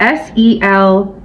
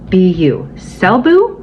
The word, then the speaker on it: Selbu: to write it down because I think I pronounced it right I hope I do it's called s-e-l-b-u selbu selbu mittens I wish I had a picture